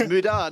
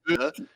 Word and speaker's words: Muda: It's Muda, not Muda.